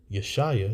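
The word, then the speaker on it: ישעיהו: our forefather our brother the prophet yesaiah that's how you say it in Hebrew Isaiah he is basically pleading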